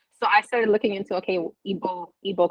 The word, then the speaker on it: Igbo: So I started looking into Igbo culture, which is IGBO. The G is silent.